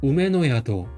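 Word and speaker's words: 梅乃宿: 이게 이제 회사 명예요. 우메노야도라고 있습니다. 그래서 이자는 뭐죠? 매하나무 매죠. 그다음에 이거 우매라고 읽어요. 배하는 우매죠. 그다음에 이거는 그다음에 이거는 이제 이네라고 해 가지고 놀라고 있습니다. 그다음에이 한자는 뭐죠? 자숙이죠. 그래서 야도라고 있습니다. 그래서 우에노야도라고 읽을 수 있어요.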